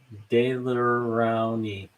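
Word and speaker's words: Daler-Rowney: Actually, it's pronounced, Shelley's Dalarani. Dalarani.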